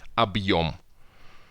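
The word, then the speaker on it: объём: But hard sign, we just not read it. Объем.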